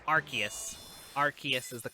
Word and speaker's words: Arceus: Pokemon's name um yeah it's um it's Arceus Arceus is the correct pronunciation it is the most Mo the most